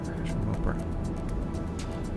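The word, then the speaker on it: True Mopar: Well, let me see if I can pronounce it there, True Moper. I think I have. True, T-R-U-E, M-O-P-A-R. True Moper.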